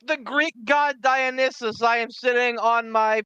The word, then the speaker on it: Dionysus: like the Greek god Dionysus I am sitting on my perch on the top of the world eating my grapes going yes entertain me it's pronounced dionis but that's I know